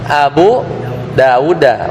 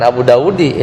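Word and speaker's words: أبي داودَ: Bacanya apa? Abu Dauda. Bukan Abu Daudi.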